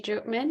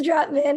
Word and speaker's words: Dropman: next we have droopman I hope I pronounced his last name right excuse me it's dropped man it's okay though uh hi everyone my name is dropman and I am the